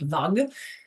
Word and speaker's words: Wage: In fact, my last name, Wage, actually, well, it's technically, it should be pronounced Vag. At least that's the best I could do at it. It's Norwegian.